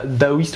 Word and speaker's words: taoïste: s'appelle de la méditation daoïste ou taoïste. En général les gens, c'est un T, ils sont taoïstes mais ça se prononce daoïste.